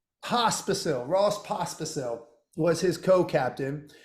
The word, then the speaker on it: Pospisil: Pospisil. Pospisil.